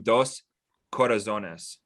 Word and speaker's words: Dos Corazones: I want to make sure I pronounce this right. New album Dos Corazones.